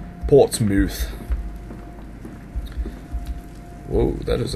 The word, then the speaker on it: Portsmouth: And I think that's how they say it in England. Mouth. Not mouth. Portsmouth.